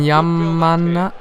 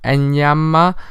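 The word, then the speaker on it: Enyeama: And Yamana, wait, let me just check how to properly pronounce this guy's name, guys. Sorry, just 1 second. It's Enyama, the goalkeeper.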